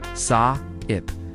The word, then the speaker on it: SAIP: Say it like a sound effect. Saip stands for significance, approval, acceptance, intelligence, pity, power.